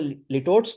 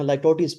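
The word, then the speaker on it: litotes: इसको आपने लिटोट्स नहीं पढ़ना, लाइटोटीज पढ़ना है, जिस तरह आपने सिमिली पढ़ा।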